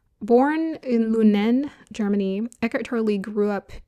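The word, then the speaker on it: Lünen: Born in Lunen, Germany, Echer Lee grew up in an tense, often joyless atmosphere with parents whose relationship was filled with conflict.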